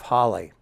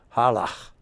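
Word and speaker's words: Halle: at the town of Holly I call it Holly because it's spelled h a l l e I've heard later that it's pronounced halah and in German I can't do it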